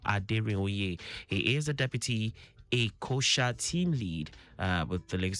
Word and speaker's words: LASHMA: Was it EKOSHA? Yes, it's EKOSHA. EKOSHA.